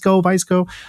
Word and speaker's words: VSCO: A lot more people knew how to pronounce us. That's one of the main things. How is it? VSCO, VSCO.